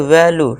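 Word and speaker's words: value: जब किसी वर्ड के लास्ट में इ यू ई आए तो यू ई का उच्चारण यू से फिर से होगा। यानी लॉन्ग यू होता है।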